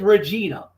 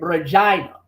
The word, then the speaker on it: Regina: Because I know, the way I read it, it says Regina. But the thing is, Canadians pronounce it Regina, right?